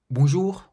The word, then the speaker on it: bonjour: Have a look at the pronunciation and stress of these words. Bonjour, bonjour means hello, so it's not bonjour, but bonjour.